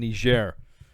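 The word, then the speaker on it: Niger: So what happened was is that uh three three green berets were killed in an ambush Wednesday in Nishair. That's how you say it.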